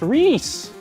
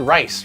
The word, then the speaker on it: Reese: It's pronounced Reese. Reese P. Gotcha. Okay. What did I said rice, right?